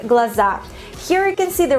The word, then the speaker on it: глаза: Глаза, глаза. We put the stress on the last syllable, not глаза, but глаза, глаза.